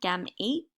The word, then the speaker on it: gametes: something we call gametes so this is how you say it gam eats um they unite and